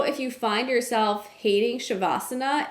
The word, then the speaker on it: Savasana: of this video but the pronunciation of this word is more like shavasana this spelling right here